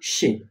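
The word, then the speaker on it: she: হি মানে সে, ব্র্যাকেটে লেখা আছে ছেলে। তারপরে আছে সি। উচ্চারণ কি? ব্র্যাকেটে লেখা আছে সি।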